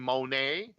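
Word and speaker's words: Moné: do something else under the name Monet because that's how you pronounce it she's Mercedes Monet you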